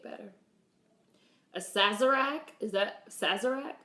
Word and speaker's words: Sazerac: a Sazerac is that Sazerac is that he pronounce it sighs Arak drink my dolly she